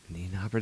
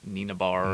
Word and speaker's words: Nienaber: Oh, That's how they were saying it. Nienaber. That just doesn't seem like it would be the correct way of pronouncing You were it. trying to say it like Nina Bar or something. Niambar or something Yeah. like that. I don't know. They kept saying Nienaber.